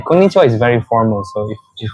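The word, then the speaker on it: こんにちは: The formal correct pronunciation is konnichiwa.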